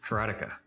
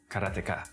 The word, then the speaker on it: Karateka: A lot of people say karateka or karateka. In Japanese, there's no stress on any syllable, so it would be karateka, something like that. I called it karateka, but I've since found